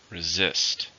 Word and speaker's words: resist: how many syllables are in the word resist to stress in the second resist resist the urge to